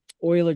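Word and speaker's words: Euler: is is looking at something called uh Oiler Dynamics or or the English pronunciation is uler Dynamics uh that looks at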